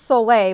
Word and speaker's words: sole: And it's pronounced Sole, but it's spelled S-O-L-E.